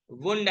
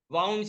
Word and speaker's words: wound: The desk needs to heal soon, वुंड आएगा इसमें। वुंड WOUND यानी घाव, लेकिन वही स्पेलिंग वाउंड से बोलो तो वाइंड का पास्ट टेंस होता है।